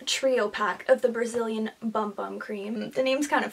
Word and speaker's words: Bum Bum: pack of the Brazilian Bum Bum Cream. The name's kind of funny. Supposedly you're supposed to pronounce it Boom Boom. I think I read that somewhere, but let's be honest, like, that's bum bum.